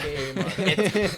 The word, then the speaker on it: Kmart: They definitely want you to pronounce the K.